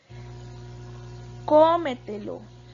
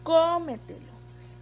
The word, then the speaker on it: cómetelo: una palabra sobre estructura cómetelo cómetelo tiene el acento en la cuarta posición verdad y se tilda